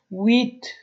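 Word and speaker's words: huit: ویت و اینه در الفبا کار کرده بودیم که اش نشته میشه ولی تلفظ نداره، بنان ویت باید تلفظ کنین.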